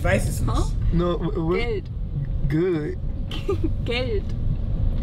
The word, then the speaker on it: Geld: Geld. Good. Geld. How you spell it? Gade?